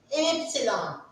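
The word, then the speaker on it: Ypsilon: For this, we are saying epsilon.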